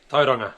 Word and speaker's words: Tauranga: Tauranga.